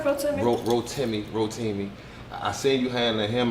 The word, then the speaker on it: Rotimi: I always pronounce his name wrong? You say it right, Rotimi? Rotimi.